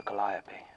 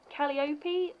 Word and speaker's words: calliope: So, do we know if it's pronounced calliope or calliope? I have also heard it said as calliope. Seriously? By who? Americans. Ah. As far as I can tell, there isn't a correct pronunciation, but they were originally named after the Greek muse Calliope, so...